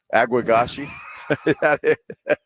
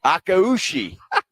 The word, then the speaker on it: Akaushi: Aguagashi. How do you say it? Akaushi? Akaushi.